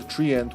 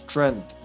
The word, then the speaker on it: treant: When I was younger, the first time I saw the word treant was in Golden Sun, and I read it as Trent. Didn't know. Didn't know you're not supposed to pronounce it that way. Treant, but no, treant bulb is what I'm looking for.